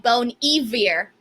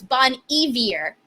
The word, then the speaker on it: Bon Iver: thank you justin says bon iver pronounced like bone eavier evier if y'all didn't know thank you for that thank you i did not i did not know that so it's bon evier thank you for that